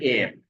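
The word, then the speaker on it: heir: एयर start with H. ठीक है, again अलिफ की साउंड आ रहे हैं, एच से यहाँ पे साइलेंट है, तो ही इज एन एयर टू a large Fortune.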